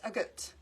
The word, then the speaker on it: agate: then I googled it, and apparently it's pronounced agate.